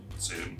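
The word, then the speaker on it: Sunne: Sun. It's just spelled like Suni, but it is Sun.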